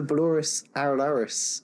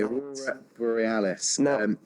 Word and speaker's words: Aurora Borealis: be my favorite aircraft delivery um probably the Boris araris um butcher that pronunciation the Iceland Air 757 one oh if you know which one I'm on about the Aurora boreales that one the Aurora Borealis beautiful I've been looking obviously I've been well